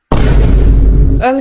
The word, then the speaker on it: homme: Homme, ça s'écrit avec un h mais qui ne se prononce même pas.